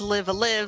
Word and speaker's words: Live A Live: exactly sure if it's live alive if it's live a live like how do you pronounce it uh it is indeed live alive